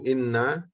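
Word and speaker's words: إنّ: Inna ya, posisi-posisi inna ya yang dia bacanya di kasroh hamzahnya ya, inna al-maksurah. Jadi inna bukan bacanya anna ya.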